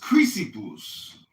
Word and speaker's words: Chrysippus: Cleanthes really go from Zeno to Chrysippus, I think, really had it kind of figured out. And then later It's pronounced Chrysippus.